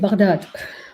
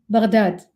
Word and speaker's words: Baghdad: Baghdad, pronounced with a ghain, stumbling from the back of the tongue and the top of the throat, like a gentle gurgle